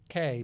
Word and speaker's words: Keay: her name into Amazon it's pronounced Anna K but you spell it k-e-a-y last and final question